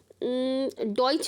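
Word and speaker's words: Deutsch: बोलेंगे टी एस सी एच को हम चा प्रोनाउंस करेंगे अच्छा जर्मन में हम डॉच भी बोलते हैं जर्मन को को हम डॉज भी बोलते हैं तो अब ये डॉज की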